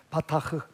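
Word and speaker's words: בטח: 베타흐인데, 이 베타흐라는 말의 동사가 뭐냐면 바타흐예요. 자, 이 단어는 여러분 기억합시다. 따라하겠습니다. 바타흐. 뒤에 흐는 약간 이렇게 숨소리를 내서 언제 제가 SM에 가서 한번 훈련을 받아야 될 것 같아요.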